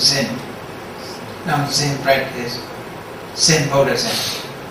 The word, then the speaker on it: Zen: Dhyan, from dhyan, in Japanese pronounced as Zen.